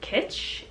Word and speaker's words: Kitsch: I got these from I think it's pronounced Kitsch. I think it's like Kitsch, K-I-T-C-H, and they're cotton.